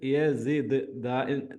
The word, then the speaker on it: يزد: ഫലം യസിദ്, യസിദ് ദാലിന് സുക്കൂന് വരുമ്പോൾ ഒന്ന് സ്ട്രെസ് ചെയ്ത് പറയാം.